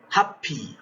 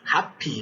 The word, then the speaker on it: happy: word happy happy no English language has no germination we'll come to discuss that in the future about this aspect where we are going to have two uh consonant sounds coming together but produced as one for example happy topic